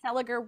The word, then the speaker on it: Seliger: On the podcast, Mark Celiger, we are here to celebrate you and your longunning relationship, established professional relationship with our girl.